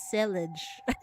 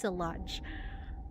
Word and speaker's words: Salange: I've always pronounced it as Selage. So, it's Salange.